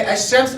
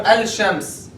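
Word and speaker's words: الشمس: So shamsiyya means you don't pronounce the lam. Like the word ash-shams, right? You say ash-shams or al-shams? Ash-shams.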